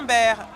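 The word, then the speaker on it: Baer: Il s'appelle Ah oui? Bert, mais ça s'écrit B-A-E-R.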